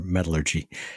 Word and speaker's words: metallurgy: These are all archaeometallurgy or metallurgy. Did I just mispronunciate that? Metallurgy. Yes. You put the emphasis on the wrong syllable.